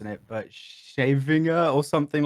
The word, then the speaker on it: Scheveningen: Like, I have no idea how to pronounce it, but Shavinger or something like that. Scheveningen.